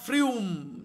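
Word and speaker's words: Frome: novel by Ian McEwen Serena frume that is how it should be pronounced Serena frume is recruited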